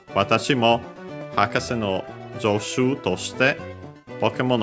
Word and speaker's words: hakase: This one accented on the first syllable, just as a reminder. So the hakase, high, low, low. Yeah, then we have the possessive particle no, so yeah, of the professor.